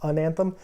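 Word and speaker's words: Anathem: the other one is an Anthem is how you say it it looks like Anthem but it's Anthem those are like really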